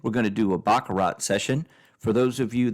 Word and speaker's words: baccarat: We're going to do a Baccarat session.